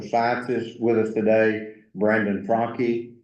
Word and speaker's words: Franke: We have Dean of Social Sciences with us today, Brandon Franke. I always mispronounce his name, but he told me today, a really good pseudonym is just, it's Donkey with an F.